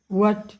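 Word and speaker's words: what: है, तो इसमें हम WH वाले शब्द जैसे व्हाट, व्हेन, व्हाई में H का उच्चारण अक्सर नहीं किया जाता है। व्हाट, व्हेन, व्हाई नहीं, इन्हें व की ध्वनि से ही शुरू करते हैं। व्हाट, when, why, when, where.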